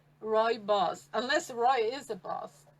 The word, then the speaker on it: Rooibos: how we pronounce it it's basically like roy and his boss roy boss unless roy is a boss but roy boss repeat after me guys roy boss and uh so most